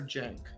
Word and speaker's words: Jank: And so really quick, do you pronounce it Chank or Jank? Jank. Okay, is that the correct way to do it? Yeah, like with a J.